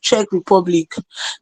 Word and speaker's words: Czech Republic: secondly thank you for giving me the correct pronunciation of Czech Republic cuz I mean I would have embarrassed my